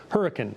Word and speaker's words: Hurricane: and we actually have a town that is spelled hurricane 20 minutes from here, but it's pronounced hurricane in West Virginia.